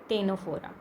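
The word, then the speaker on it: Ctenophora: ठीक है, तो सिलेंट्रेटा के बाद जो है हमारे पास आता है टेनोफोरा। ठीक है, इसमें सी जो है वो आपका साइलेंट होता है, टीनोफोरा।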